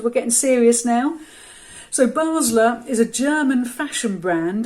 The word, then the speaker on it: Basler: heard of the name I thought it was Basler but when I've Googled it to make sure